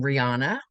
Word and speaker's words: Riana: just a couple things you pronounced My Name Rihanna mil okay e and